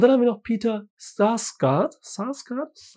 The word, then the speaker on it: Sarsgaard: Und dann haben wir noch Peter Sarsgaard. Ich glaube, der wird so ausgesprochen, weil er Amerikaner ist und keine Skandinavier.